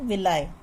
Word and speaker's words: villi: Like projections होती है जिसे कहा जाता है विलाई या विली प्रोनाउंस कर सकते हैं आप इन द स्मॉल इंटेस्टाइन।